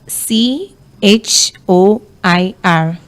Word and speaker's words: choir: today all right for today's word we have c h o i r c h o i r wow okay and the word is pronounced choir and not qua ah